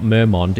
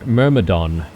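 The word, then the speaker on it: Merregon: It's not Mermmont, it's Mer Mermodon.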